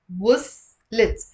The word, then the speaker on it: وصلت: The stress is on w. وصلت.